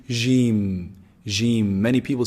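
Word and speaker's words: ج: Jim is pronounced from the middle of the tongue, the middle section of the tongue, and the roof of the mouth from inside. Jim.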